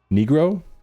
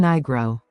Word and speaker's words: Nigro: Produced by Dan Negro. Niggro, sorry. Uh, Negro setting a trap for me here. How to pronounce uh let's see Dan Nigro. Nigro. All right. That's what I'm going with.